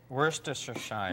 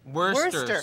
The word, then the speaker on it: Worcestershire: Worcestershire. No, dear. We had a letter about this, dear. It's Worcester sauce. Worcester. You Yeah. don't have to. Don't think Shire. Just go Worcester.